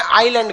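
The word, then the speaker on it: island: आइलैंड में ना S silent रहता है। इसको आइसलैंड नहीं पढ़िएगा, आइलैंड। आइसलैंड तो इस तरह लिखाएगा, आइस लिख के लैंड। ये क्या होता है? आइलैंड। इसमें एल एस क्या रहता है? साइलेंट।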